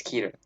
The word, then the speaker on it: Keter: the object is probably keter there are a few ways to pronounce the word but for the purposes of this video i pronounce it as keter ketoclass objects are extremely